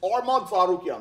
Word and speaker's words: Arman Tsarukyan: tarukan okay by the way that's how you pronounce his last name it's armad zukan okay so Arman his first fight in the